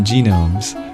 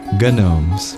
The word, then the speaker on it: gnomes: trace their genetics oh not genomes gnomes like Gnostic I